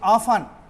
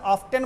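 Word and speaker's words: often: और तब comes here, वह यहाँ अक्सर या हमेशा आती है, सी ऑफन, इसको लोग अक्सर ऑफ्टन बोलते हैं, ऑफन, टी साइलेंट है, ऑफन।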